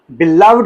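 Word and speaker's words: beloved: करते हो ठीक है उस वक्त ये बिलव्ड इसकी प्रोनंसिएशन होती है लेकिन जब आप एज एडजेक्टिव इस तरह से आप यूज़ करते हो ठीक है नाउन के साथ यूज़ करते हो ये इसकी प्रोनंसिएशन जो है वो बन जाती है बिलवेड माय बिलवड सन माय बिलवड parents my बिलवेड teachers okay then number three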